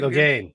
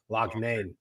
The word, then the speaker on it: Loughane: Say Lougane. It's like L-O. It's Loughane. Lougane, like that. Lougane.